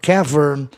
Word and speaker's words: cavern: Quando o A não pode ser pronunciado E, por força, né, maior, no caso, caver, quem é que ia conseguir pronunciar caver, caver? Não dá. E aí, para soar melhor a palavra, os linguistas optaram por cavern, cavern.